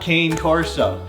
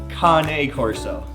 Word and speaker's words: Cane Corso: right little little school lesson here it's not cane car so he is not a peppermint stick he's not a stick in an old man's hand it is pronounced con a horse oh not to be confused with Tonya kanae horse